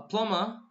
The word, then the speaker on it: plumber: next he called a plumber okay be careful here be is silent B is silent don't stay lumber blumburtt